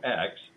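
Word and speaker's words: Ecks: Joe X, and it's spelled E-C-K-S.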